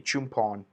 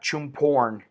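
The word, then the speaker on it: Chumphon: an R, and so some people say Chumpon, but it basically, because of the language, what do you call it, the way the language works is in some places like an L is pronounced an N, an R is pronounced an N. It depends, but this is Definitely Chumpon, not Chumporn.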